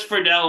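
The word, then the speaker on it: Friedle: So, I had uh in my brainstorming tank, I had Will Will uh is it Fredell? Yes. Oh, I always pronounced it Fredel. He says Fredell on the podcast when he introduces himself.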